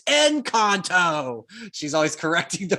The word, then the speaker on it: Encanto: fiona my two-year-old goes yeah play konto and goes it's enconto she's always correcting the